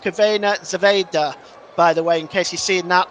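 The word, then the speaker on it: Crvena Zvezda: sorry Red Star Belgrade one Benfica 2 that's pronounced cavena Zeda by the way in case you're seeing that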